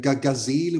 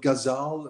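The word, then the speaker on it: ghazal: and I think there are many ways to pronounce it. Gazelle would be the German word, Gazal, maybe also gazelle in English.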